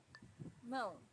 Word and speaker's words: mão: Mão, hand. Mão's a little bit difficult to pronounce for beginners because of this nasal sound, but try to practice it and you'll get better and better each time.